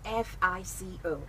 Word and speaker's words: FICO: on Twitter it's Reverend psycho but it spells f IC o---- alright f IC o---- that's the pronunciation that's spelling was pronounced fico so it's